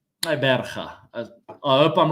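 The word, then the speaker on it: Gqeberha: It's Taberga.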